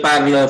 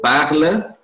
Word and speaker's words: parle: Ya, parle, jangan parle ya. Nggak ada apa-apanya, jangan diucapkan e ya. Je parle.